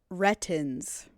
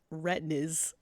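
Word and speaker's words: Retinz: on oh my God I am saying his name wrong it's rettin so it is ratings rtin why did I think it was retinas places my brain go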